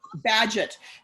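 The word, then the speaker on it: Bagehot: night the night back Badgett you know Walter Badger was an economist in England so when you're in England nothing is pronounced the way to look thank you always like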